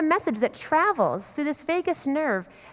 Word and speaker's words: vagus: They know there's a nerve in our body called the vagus nerve, the vagus nerve. I checked this out with a medical professional, the pronunciation. The vagus nerve.